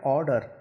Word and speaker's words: ऑर्डर: यहाँ आर्डर हमको नहीं लिखना, हमें लिखना ऑर्डर, यानी कि मुंह जो है गोल आकार ले लेता है।